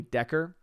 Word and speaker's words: Dacre: trying to say that the name, which is spelled as Dacre, is probably Decker. I think is what we figured that out to actually be.